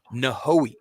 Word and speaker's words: Nojoqui: Nojoqui. Mm-hmm. Okay. I just like no-ho.